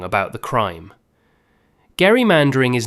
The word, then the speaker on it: gerrymandering: The governor said his name with a hard G, like Gary. The word that outlived him took a soft G instead.